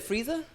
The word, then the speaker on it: Frieza: You said Frieza? I don't know. Is Did I my name say it right? Frieza?